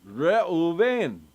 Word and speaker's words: Reuven: it makes sense because he was actually pronouncing your name the way it would actually have been pronounced, Reuven.